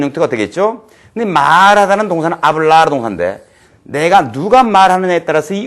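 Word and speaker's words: habla: 다같이 한번 따라해 보자 아블라 동사입니다 h 발음하지 말기로 했고 아블라이 뜻은 말하다는 뜻입니다 R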